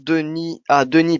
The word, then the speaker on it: Denis: Denis se prononce Denis, pardon, sans le S.